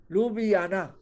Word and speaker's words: Ljubljana: फिर है बेटा स्लोवेनिया, इसकी बड़ी मुश्किल स्पेलिंग है पर इसको बोलना बहुत आसान है, लुबियाना। देखो जे है ना, इसको बोलेंगे ज, लुबियाना, Ljubljana, लुबियाना।